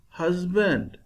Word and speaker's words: husband: we read husband how shall we read husband husband hus will be pronounced loudly band will be produced will be